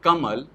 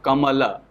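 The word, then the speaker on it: कमल: La along with swa, Kamala. But in Hindi pronunciation, it has been observed that the last swa, end swa, are not realized in sound system. So end swa generally gets deleted.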